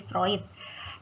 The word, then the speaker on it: Freud: Ya moslow dengan vroid jadi ini bacanya proyek ya bukan Freud tapi fruit fruit ini memang menekankan